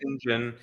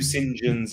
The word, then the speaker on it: St John: like the name St John here isn't it pronounced singen over there singen yeah I think when it's a when it's